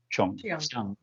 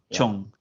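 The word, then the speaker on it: Cheung: I mean, in Mandarin, it's Zhang, but of course, this is the Cantonese pronunciation. So, Chong. Chong.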